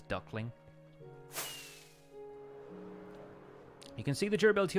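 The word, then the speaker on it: Duk Ling: The ship is actually called Duckling, but it's spelt like D-U-K space L-I-N-G, which is a very Chinese-looking name until you realize it says Duckling.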